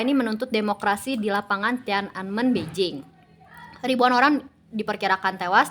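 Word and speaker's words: Tiananmen: Yang pertama itu ada ketakutan massal setelah tragedi Tienman. Ee kalau misalnya pronunciation yang benar sih Tian Anmen ya.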